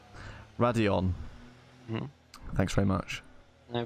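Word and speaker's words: Raidillon: Yeah, I'm going to have to correct your pronunciation of that corner. I'm afraid it is Radion. Radion.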